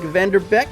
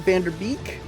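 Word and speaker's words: van de Beek: am practicing you know like vanderbeck I know it's not Vander beak Black Ops shney yeah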